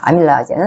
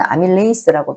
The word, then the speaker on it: 아밀라아제: 개가 어 들어 있습니다 아밀라 이제는 아밀레이스 발음합니다 다 는음 제분하여 과정이